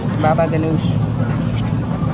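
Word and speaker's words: baba ghanoush: Baba Ganoush.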